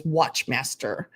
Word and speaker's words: Wachtmeister: And they pronounced that, well, the way the computer pronounced it to me was Wachtmeister. And it's Wachtmeister.